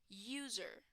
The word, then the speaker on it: user: should be pronounced right sounds like you user user okay is not